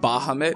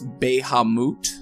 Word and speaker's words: Bahamut: much it's a mouth technically it's not Bahamut it's baihe moot so we've all been saying it wrong but I will never